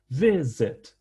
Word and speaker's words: visit: not double the last consonant it's targeted targeting visit there's is the same thing visit we stress the first syllable so we don't double the last cons